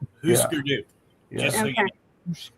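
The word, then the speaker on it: Hüsker Dü: That U with the 2 dots over it is pronounced oo. Husker Du.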